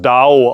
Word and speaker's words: 道: Und das Wort für Weg im Chinesischen wird das Dao ausgesprochen und bedeutet auch die kosmische Weisheit.